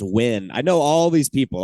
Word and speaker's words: Nguyen: I think it's pronounced Win.